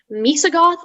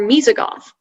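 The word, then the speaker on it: Moesogoth: have all the information yup misa goth or mizigoth noun new latin from latin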